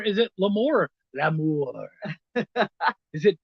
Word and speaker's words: L'Amour: Yeah, guys, it is Louis L'Amour. Is it L'Amour? L'Amour. Is it? I think it's pretty much pronounced L'Amour. L'Amour, but it isn't spelled it's L'Amour. The English, not the French.